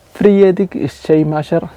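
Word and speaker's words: Friedrich Schleiermacher: Friedic Shamasher, que así se pronuncia, padre de la teología liberal, aceptó el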